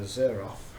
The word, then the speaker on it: Xerjoff: fragrance house called a zeroth it's spelled with an X with us I don't